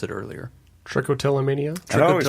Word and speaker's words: trichotillomania: Trichotillomania? I always pronounce it trichotillomania.